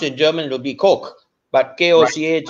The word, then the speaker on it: Koch: she is from the Koch family. But yes. It's in pronounced in German, it would be Koch, but K-O-C-H, right.